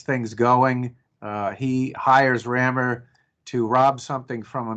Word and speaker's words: Rammur: for the digital and it's spelled r-a-m-m-u-r rammer so what's the book